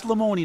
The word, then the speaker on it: Lemoni: You know, I'm and sure it is Lemoni, not Lemone. Everybody still Correct. calls you Lemone. It's Lemoni. Yeah, I don't care.